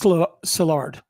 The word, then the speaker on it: Szilard: So that says Szilard. It's pronounced Szilard.